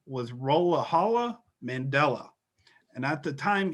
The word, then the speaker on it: Rolihlahla: Rolihlahla. It's like, oh, thank God, Nelson Mandela is here to say, listen, no, it is I, Rolihlahla Mandela. They're like, oh So that is spelled Rolihlahla. no, Rolihlahla Yes.